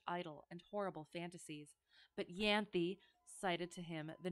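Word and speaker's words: Ianthe: Tales of her nurse it's pronounced yanthi it's a Greek name okay sorry oh it's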